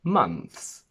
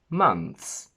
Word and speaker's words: months: We say months, months, months. Careful, because a lot of people will cheat and remove the th altogether, but listen to the difference.